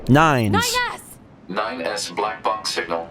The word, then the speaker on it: 9S: I really think he prefers for it to be pronounced nines pretty sure it's a it's a European name nines 9s 9s Black Box